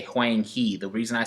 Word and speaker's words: Huang He: Okay, this is not pronounced he. This is pronounced he in English, but it's not that in Chinese, guys.